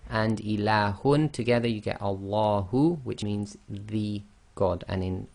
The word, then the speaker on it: Allah: So when we pronounce the name of Allah with no preceding sound, then you read the Hamzatul Wasl as if it's got a fatha. That's why we've got al.